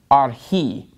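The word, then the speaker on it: ἀρχῇ: and are he okay so the accent is on the last syllable in this word arji and our and notice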